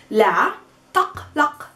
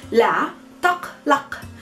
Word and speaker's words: la taqlaq: La taqlaq.